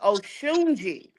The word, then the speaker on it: Osuni: queen osun yeah so I am pronouncing it wrong the Africans told me my name is osuni oi yeah but my grandmother named me osuni so I'm I'mma stick with that but so that's your